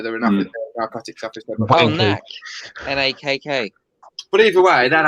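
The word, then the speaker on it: Nakk: No, you're pronouncing it wrong. For a start, it's Knack. N-A-K-K. Knack.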